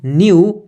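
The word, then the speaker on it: knew: भी नहीं पता थी तो बट नो वन न्यू के एनई डब्लू के क्या है साइलेंट है नहीं पड़ जाएगा एनई डब् न्यू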